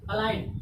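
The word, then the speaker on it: align: अलाइन, अलाइन means क्या होता है, सीध मिलाना। ठीक, इसमें जी के बाद क्या आया, एन आया, तो जी क्या हो गया, साइलेंट हो गया।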